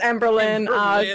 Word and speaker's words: Emberlynn: Or is the Lynn Emberlynn. pronounced separate? It's just Emberlynn.